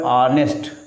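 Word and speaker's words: honest: ये लिखा हुआ है ऑनेस्ट। क्या लिखा है साथियों? ऑनेस्ट। इसमें एच साइलेंट है।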